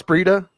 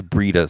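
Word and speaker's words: Breida: appreciate that and daniel did i mispronounce brita brida it's breeda cease i just i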